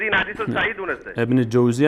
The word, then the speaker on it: ابن جوزی: ابن جوزی است، ابن جوزی نیست.